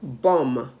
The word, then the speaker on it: bomb: the word ghost g-h-o-s-t the last b in the word bomb b-o-m-b comb c-o-m-b the